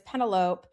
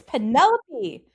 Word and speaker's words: Penelope: The borrower's name is Pentalopee. And all of a sudden, I just like it just hit me. I'm like, I'm losing my home. Say my name right. It's Penelope. Don't be calling me Penalope, you know, and I